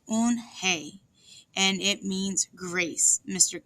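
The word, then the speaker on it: Unhei: Yes, it's pronounced Eunhye, and it means grace, Mr. Kim added. Eunhye, Joey said slowly, and this time perfectly.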